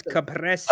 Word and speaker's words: caprese: And first off, it's caprese.